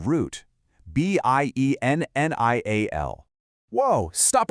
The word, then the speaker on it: biennial: Listen to how it sounds. bi-ennial When you hear that